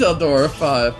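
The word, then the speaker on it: Eldora V: Is it your pronounced 5 though? Oh, it is Eldora 5.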